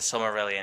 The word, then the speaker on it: Silmarillion: And the Silmarillion, did I say it right?